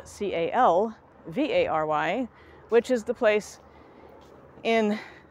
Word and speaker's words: Calvary: y it is frequently mispronounced as Calvary which is spelled c a l v a r y which is the place in Jerusalem in the